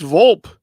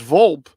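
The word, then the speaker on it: Volpe: same last name as this guy and it's pronounced a little different so all right it's vulp yes it's vulp in St Louis the E is an i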